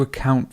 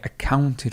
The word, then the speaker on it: account: No, did you account for something? I accounted for it. So the stress would be on the second syllable.